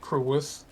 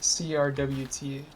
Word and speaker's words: crwth: I just pronounce it Crowith, but apparently it comes from Welsh and is the name for an ancient Celtic instrument that is similar to a violin. Crwph. Yeah, Crwth, yes.